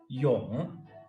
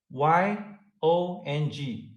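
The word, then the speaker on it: 永: There are 4 intonations in reading Chinese characters. This is called the third one, and in this case, it's not Yong, Yong, Yong, it's Yong, and it's not Yong, it's the third one.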